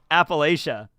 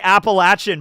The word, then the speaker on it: Appalachia: Appalachia. You want me to say Appalachian, but I've never pronounced it Appalachian in my entire life. I've always said Appalachia.